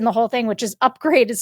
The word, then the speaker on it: Upgrayedd: best bits in the whole thing, which is Upgrade is spelled UPGRAYEDD.